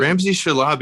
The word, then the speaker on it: Ramzi Shalabi: the podcast ramsay yeah thank you very much ramsay shalaby is that how we pronounce it yeah that's good okay perfect um